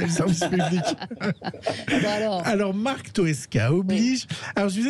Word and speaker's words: Toesca: Alors, ça y est, c'est le son pour Marc Tosca. Alors, Toesca, j'ai dit Toesca. Oui, s'il vous plaît. C'est Toesca. Oui, Toesca. Vous prononcez mal. Non. Toesca, c'est... Non, Tosca, c'est un opéra.